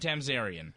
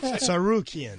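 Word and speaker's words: Tsarukyan: So the co-main event, Islam Makhachev against Arman Tamzarian. Oh, that's how you say it. All right, okay. No, that's not how you say it. No. Sarukian.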